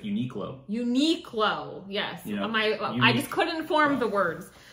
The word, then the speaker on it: Uniqlo: You know, Uniloco.